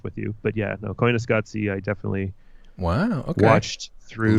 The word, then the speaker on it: Koyaanisqatsi: Koyaanisqatsi.